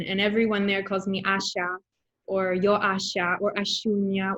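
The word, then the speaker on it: Asya: asia uh so yeah asha you know i say in russian and everybody tries to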